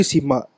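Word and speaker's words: Simha: But the thing is, Bobby Sima, a guy who is able to be actually. How do you say his name? Bobby Sharma. Sima. Sima. S-I-M. Sharma is who? I don't know. Bobby know. Sima.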